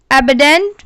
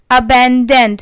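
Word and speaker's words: abundant: एबडेंट means बड़ी मात्रा में, जिसका इंग्लिश में मतलब होता है large quantity. अबैंडेंट, sorry I think pronounce wrong, it's called अबैंडेंट, which means Hindi में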